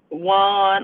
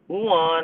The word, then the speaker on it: yuan: And so now by 2022, when the Winter Olympics come into play, and China releases their digital yuan or digital yuan, I've heard it pronounced both ways, currency that will be global, right?